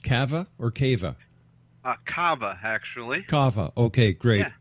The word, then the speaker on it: Kava: Hey, is your family name pronounced Kava or Kava? Kava, actually.